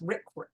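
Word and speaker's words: RCRA: conservation and Recovery Act this gets pronounced Rick and then there are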